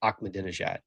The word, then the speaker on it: Ahmadinejad: He taught me how to say Ahmadinejad. Did you guys know that's how it's pronounced pronounced?